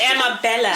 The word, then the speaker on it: Amabella: It's Amabella. She keeps correcting everybody. It's not Anna. It's Emma. Bella.